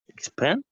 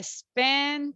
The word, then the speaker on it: spend: scenario is third person how can I say this word expend ah again everybody what is the pronunciation SP very beautiful but sometimes during the practice I listened expend yeah S I spend too much time so be careful guys remember we don't have letter e at the beginning so we